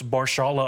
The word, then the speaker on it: Mahershala: Probably like completely destroyed his first name, but it's Mahershala Ali. I'm pretty sure is how you say it. But it's like an extra H in there.